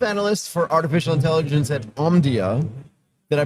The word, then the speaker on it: Omdia: Um chief analyst for artificial intelligence at Omdia. Did I pronounce that right?